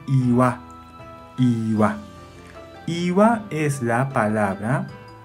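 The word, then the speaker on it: 岩: Onyomi pronuncia gan, gan. Kunyomi pronuncia iwa, iwa.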